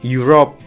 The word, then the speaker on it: Europe: atau an university, enggak, tapi pakainya karena yang dibacanya you gitu kan. Kayak misalkan bukan Europe, ya kan, Eropa, Europe gitu kan, bukan a Europe, bukan an Europe, tapi a Europe gitu ya.